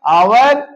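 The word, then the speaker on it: hour: दिया कि स्पेलिंग प ना मूल्यांकन करके उसके उच्चारण प मूल्यांकन करेंगे I have an आवर time I have an आवर time मेरे पास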